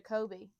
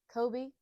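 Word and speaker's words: Koby: And then she turns to Kobe.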